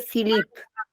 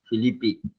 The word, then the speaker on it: Filippi: Olivier Philippe. Filippi. Ok, Y, gracias. y se escribe Jardin Sec.